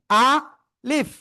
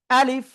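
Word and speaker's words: ألف: আ leaf. প্রথমে আ বলব। তারপরে বলব লিফ। কোন টেনে পড়বো না। শেষের দিকে নিচের ঠোটের পেট উপরের দিদাতের আগায় লাগিয়ে ফা এইযে হালকা একটু ফার মত উচ্চারণ হবে।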